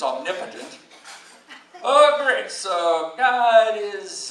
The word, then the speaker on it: omnipotent: First of all, I thought it was omnipotent. It's actually, I found out it's omnipotent.